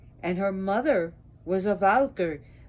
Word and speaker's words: Valkyrie: And her mother was a Valkyrie. Valkyrie, actually, if you want to roll those R's.